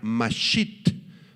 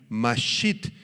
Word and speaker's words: masit: es la palabra hebrea masit con acento en la i masit y significa sentirse destruido